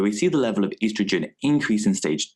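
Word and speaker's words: oestrogen: does here is certainly bearing the word Easter Jen pronounced estrogen it really doesn't matter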